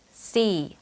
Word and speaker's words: C: 우리는 대부분 이 글자를 C라고 발음을 해왔어요. 땅에 뿌리는 씨앗의 씨를 뜻하는 우리말처럼요. 하지만 잘못된 발음이에요. 이 글자를 발음할 때에는 여기 보이는 이 입모양처럼 입술을 최대한 양옆으로 당기며 C 하고 소리내야 합니다. 마찬가지로 짧게 발음하지 말고 약간